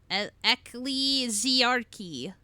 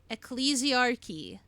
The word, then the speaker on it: Ecclesiarchy: Alys also I need the pronunciation of that word immediately. Alless allesarchy. Elesarchy. Elesarchy. Elesarch. E. Hold on. Ecclesiarchy.